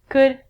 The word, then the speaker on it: could: All of these L's are silent. So it sounds like should, could, and the thing that we get from trees, would.